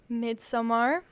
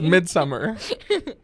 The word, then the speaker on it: Midsommar: It's Midsummer. Look, we live in America. We pronounce things wrong. So if it is Midsommar, Americans should pronounce it Midsummer.